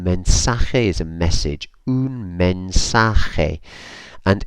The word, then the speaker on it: mensaje: message men Sahay and here is worth just spotting that a.j is a sort of sound you don't need to go overboard otherwise you probably if you're speaking somebody probably gonna cover them in spit so it's a gentle kind of sound or actually